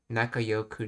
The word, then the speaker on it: 仲良く: Okay, it sounds like he's saying Yoku, so we'll go with that pronunciation. Nakayoku na or Nakayoi.